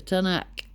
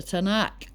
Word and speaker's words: Tanakh: Right, the Tanakh, pronounced Tanaks.